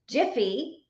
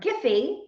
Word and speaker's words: GIPHY: so canva integrates with jiffy or giphy depending on how you say it and so you can